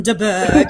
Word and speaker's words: de Bourgh: Lady Catherine de Bourgh. You have to say it like that.